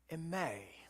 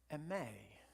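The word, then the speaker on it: εἰμί: means I am, and it's said like eme, like emphasis on the last syllable there. You could spell it lots of different ways. If you were to write it out, you could write it A-M-E-E, eme.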